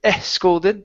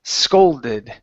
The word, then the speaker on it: scolded: the word is scolded instead of e scolded take off the e It's s scolded scolded okay give me an o sound instead of scaled it's oh scold scolded scolded okay and let's see